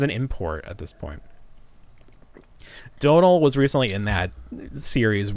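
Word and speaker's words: Domhnall: It's like, the gentleman that played Admiral Hux or General Hux in Donald Gleason. Yep. Is that how you pronounce it?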